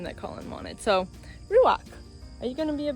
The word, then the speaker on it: ruach: this little guy ruach it's spelled like Ranch butt with a UA instead of just an A so ruak it's actually a Hebrew word used throughout the Bible